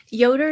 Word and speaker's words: Yoder: in the 1800s so the j is pronounced with the y but to make it